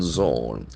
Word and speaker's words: zone: and reducing suffering humanitarian Zone Zone that Z zound is very prominent z z o n e Zone Zone Zone that Earth sound is very prominent Zone conect as a